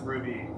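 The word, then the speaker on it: RWBY: Oh, it is pronounced Ruby.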